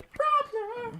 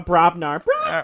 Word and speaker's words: Brobnar: Because one of my deck has Dis with them, the other one has Brognar.